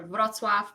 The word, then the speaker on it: Wrocław: We're going to go to Wrocław, Poznań, Torun. Sorry, those are very Polish sounding words, but I'm Polish, so that's how I'm going to pronounce them.